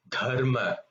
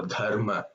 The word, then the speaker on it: dharma: And then the final da, which occurs quite often in Sahasranamam, dharma, dhyanam. You see, if you put your palm in front of you, you will feel that air blow, dharma, dhyanam.